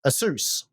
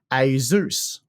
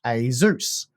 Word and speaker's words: Asus: great the only problem is um you've said Asus because that's how I've always said Asus uh